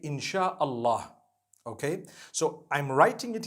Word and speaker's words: insha Allah: three separate words and when you're saying it you say insha Allah okay so I'm writing